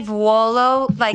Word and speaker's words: Vuolo: So Volo. That's if you easy. say it properly, Vuolo, that's how the Italians would say it, but we say Volo.